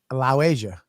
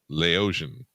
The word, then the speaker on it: Laotian: hot kelly days and i don't think you're saying it right allow asia no that's not right lao asia no you're just mixing two words hate watching like laos and asia she's lao asian laotian leia no she's not